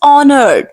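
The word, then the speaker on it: honored: मैं नहीं कर सकता the word is ऑनर्ड you have to keep as silent here I एम ऑनर्ड बट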